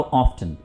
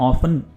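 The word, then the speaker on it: often: अब जी हाउ ऑफ्टन, कितनी बार। Basically ऑफ्टन का मतलब, या ऑफन, ये दोनों तरह से प्रोनाउंस किया जाता है।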